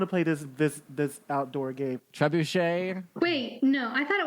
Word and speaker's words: Trebuchet: Also, I thought it was Trebucket. Trebuchet is Trebuchet. It's how do you spell it?